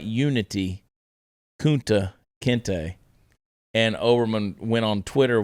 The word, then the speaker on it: Kunta Kinte: But not realizing that it's pronounced Kunta Kinte.